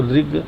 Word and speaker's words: ऋग: और ध्यान दें कि रिग जो बोलते हैं तो ऋग सीधे-सीधे नहीं बोलेंगे। इस ऐसे खाली ऋग अगर बोलेंगे तो यह सामान्य जो र लिखते हैं उसका उच्चारण होता है ऋग है ना लेकिन ये ऋषि वाला र है ध्यान दें ऋष वाला र लिखा है तो ऋषि जैसे बोलते हैं वैसे ऋ बोलेंगे यानी जीभ में कंपन